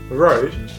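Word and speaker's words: Rode: uh how you pronounce Road Road has sponsored us no Road Wireless goo Road Road like a road where you drive and where you Road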